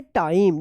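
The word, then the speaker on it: time: टाइम। देखिए इसमें जो है ना आई का उच्चारण नियम है और ई जो है ना लास्ट में साइलेंट है।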